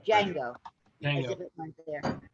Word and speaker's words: Django: You write it together, David. Just put it together so you don't hear the separation of the D and the J. Django.